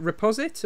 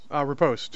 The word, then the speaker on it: riposte: And then he's got is that Reposit, or how do you pronounce that? Riposte.